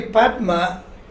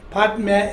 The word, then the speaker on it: padme: mani padme hum uh you're pronouncing it differently how come uh that's actually padma padme is a sanskrit word no it's written as